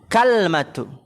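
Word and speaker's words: كَلْمَة: Ihdahuma, salah satu dari keduanya adalah bi fathil kafi was sukunil lami. Berarti gimana bacanya? Dengan memfathahkan kaf dan mensukunkan lam. Jadi gimana? Kalmatu. Kafnya fathah. Al-kalmatu ala wazni tamratin, di atas wazn tamroh ya, tamratin kalmatin gitu.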